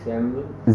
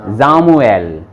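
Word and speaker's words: Samuel: Rishad, Richard S वी सैमुअल जामुएल। जैमुअल एस के बाद में वोकाल आ रहा है तो साउंड क्या बनेगा? जे, जामुएल, इसको पढ़ेंगे जामुएल।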